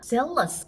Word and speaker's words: zealous: 그러면 zealous, O-U-S를 붙이면 zealous 발음 잘해야 돼요. 이거 J로 시작하는 jealous가 있어요. 그러면 이거는 질투란 뜻인데 그 단어 아니고요. Z가 아니라 Z 발음이 Z 발음 잘해야 됩니다.